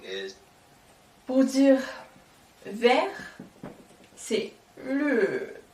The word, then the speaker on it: 绿: And green in Mandarin is Pour dire vert, c'est le. Avec l'accent qui descend comme ça.